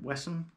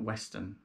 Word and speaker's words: Wesson: my asg dan wesson i believe that's how you pronounce the surname wesson yeah certainly not western no and you may